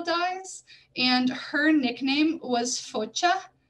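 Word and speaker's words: Focia: and her nickname was Focha. That's kind of pronouncing it with like a little bit of a Polish accent, but I'm just going to call it Focha to be more simple.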